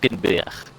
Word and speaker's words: Hulkenberg: Oh, I didn't say it right. Yeah. It's Hulkenberg. Hulkenberg. Yeah. Hulkenberg. Anyway, yeah, I try to have the E for longer, but then I realized that doesn't sound right.